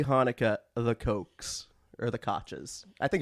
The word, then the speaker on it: Koch: It's the Koches. I think it's the Big Cox. Apple. No, it's Mayor Koch. Cock. Koch. But if it were a Koch brother, which I think is spelled basically the same way, It'd be cock.